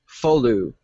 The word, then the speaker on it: Foghladha: Oh, and it's Folu, by the way. Falu. No, I'm saying it right. You're saying it wrong.